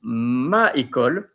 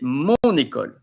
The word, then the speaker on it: mon école: You don't say, for instance, ma école, you say mon école.